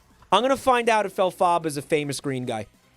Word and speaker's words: Elphaba: Elphaba is a famous green guy.